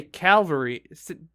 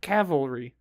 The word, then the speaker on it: cavalry: I'm reading it wrong it says don't say Calvary do say cap cavalry so I guess I